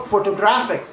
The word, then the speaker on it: photographic: Photo photographic stress jumps again because of that ick ending.